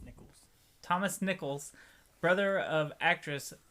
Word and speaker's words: Nichols: you did it Nichols it's not Nicholas it's Nicholls Thomas Nicholls brother of